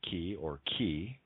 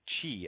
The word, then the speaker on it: chi: The letter X is the Greek letter chi, which sounds like key, or can be pronounced chi as in cheetah.